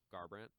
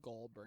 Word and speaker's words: Garbrandt: Was Garbrandt. Yeah, Garbrandt. Garbrandt. Yeah, it's Garbrandt. I just wanted to make you feel like you knew who I was talking Yeah. about, like Goldbrand.